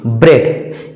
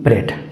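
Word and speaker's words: bread: आर ई ए डी ब्रेड इसमें ए का उच्चारण नहीं हो रहा है फ्रेंड्स क्योंकि ई के बाद ए आया है और नियम कहता है यदि ई के बाद ए आए तो ए हमेशा साइलेंट होगा तो बी आर ई ए डी ब्रेड etc friends मैं उम्मीद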